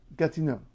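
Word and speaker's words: Gatineau: call it something French so it's Gat no gtino now Quebec Quebec is Canada's largest Province by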